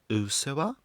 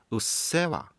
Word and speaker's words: うっせえわ: Does Ado have a song called OOSEHWAH? The correct title is うっせえわ.